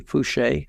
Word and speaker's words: Foucher: It's Foucher, so it's probably Fouché.